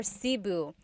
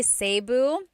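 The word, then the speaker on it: Cebu: it seu or SIU so technically in theal alphabet the letter e can be pronounced e or E like the letter I so I say SIU SIU and I know some people say seu but usually it's either SIU or sebu good question all right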